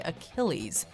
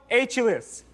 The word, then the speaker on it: Achilles: thousand dollars sadly he didn't seem to know how to say Achilles and read the word phonetically can I solve oh that'd be a good idea yeah mythological hero atulis I can't accept that